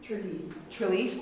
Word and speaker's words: Trelease: I don't know how to pronounce his name. Trelease, thank you, I knew you would.